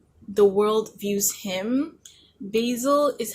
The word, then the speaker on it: Basil: Also, apparently I've been pronouncing Basil's name wrong this whole time. So please ignore the fact that in the earlier video, I pronounced his name wrong. It's Basil, not Basil. So, Basil.